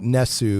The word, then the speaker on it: NES: according to Nintendo 3ds it's supposed to be pronounced Ness not NES and supposedly the the